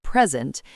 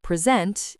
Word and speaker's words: present: But if you stress the second syllable, present, it's a verb. Like to present something. Yes, same spelling, different meaning, different stress.